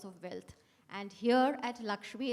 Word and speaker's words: LXME: Okay, it's not LXMI, it's LXME, and it's pronounced as Lakshmi.